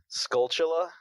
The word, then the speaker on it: Skulltula: And, as you give him items, as you collect those Skullcutillas, how do you pronounce that? Skulltula?